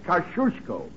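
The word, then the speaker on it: Kosciuszko: young lady T is kushko how's that very good you say it like you're going to sneeze and you got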